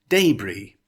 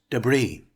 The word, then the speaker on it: debris: option one it's pronounced debris with the emphasis on the first syllable in option two the emphasis is on the second syllable it's pronounced debris let's look at an